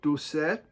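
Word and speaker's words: Doucet: 75 still going on Michael duet I believe is how you say d Set uh kind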